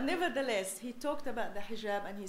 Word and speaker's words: hijab: And only President Obama can get away with mispronouncing it, call it hajib, and nobody noticed, But nevertheless, he talked about the hijab, and he said that